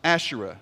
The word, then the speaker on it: Asherah: was dedicated to the goddess Asherah or Ashera as it's sometimes pronounced and so you have